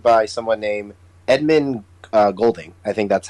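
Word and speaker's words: Edmund Goulding: it was directed by someone named edmund uh golding i think that's how you say his name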